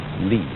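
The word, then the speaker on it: 理: wood, or the fiber in muscle, and it's pronounced li.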